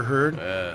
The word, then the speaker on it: Heard: this girl's name's amber heard and like her name rhymes with turd which is [ __